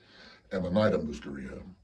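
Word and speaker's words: Amanita muscaria: species of psychelic mushrooms called amonita musaria and I've also heard it pronounced amonita musaria and it's I've never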